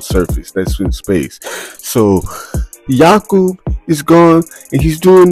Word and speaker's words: Jakub: Adam Sandler's character, Jakub, like Jacob, but he's Czech. So like Jakub, I think is how you like pronounce it.